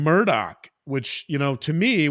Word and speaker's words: Murdaugh: it a little bit even the last name Murdoch which you know to me when I first saw this case I said oh the murders but no it's it's not pronounced that way